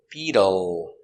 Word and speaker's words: beetle: We change the t to a d sound between vowels. So it's bead bead. U beetle. The dark L with a tongue in the back. Beetle. Beetle. Beetle. Stress on your first syllable.